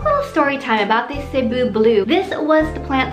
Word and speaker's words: Cebu: Can I introduce you, ladies and gentlemen, to Miss CEBU BLUE, aka Epipranum Pinatum. Now before we move on, people have mispronounced the word CEBU.